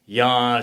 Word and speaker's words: Jan: I'm not going to say Jan, spell J-A-N, pronounced like a Y.